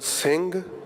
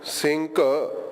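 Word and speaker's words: ਸਿੰਘ: But when it's not at the beginning, we are pronouncing the words on the screen as sing or amog, as opposed to sinka, amoka.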